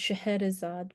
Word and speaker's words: Scheherazade: In some editions of A Thousand and One Nights, her name is spelled and pronounced Scheherazade, but that's because of the influence of the French language translation of A Thousand and One Nights that I'll talk about in just a second.